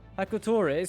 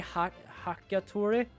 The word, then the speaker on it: Hakotori: Hakotori. Sometimes I also say Hakatori. But Hakotori for just passing by a bit.